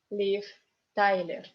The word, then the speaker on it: Liv Tyler: Liv Tyler. In the end of the word, this V becomes F, Liv. Tyler. Accent is on A, so Y is unstressed.